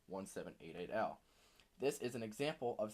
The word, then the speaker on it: 1788-L: sounds like 1788 now or as you he would like you to pronounce his name 1 7 8 8 al this is an example